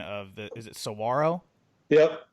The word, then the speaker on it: Saguaro: And you went to, I always mess up the pronunciation of is it Saguaro? Yep. Saguaro High School. Saguaro in Scottsdale.